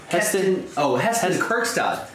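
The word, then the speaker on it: Heston Kjerstad: Heston Kerkstad.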